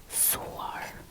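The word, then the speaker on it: Gëzuar: So the way to say cheers is gasuar. Gasuar. So the way you pronounce this G, by the way, is the same as you pronounce the G in go.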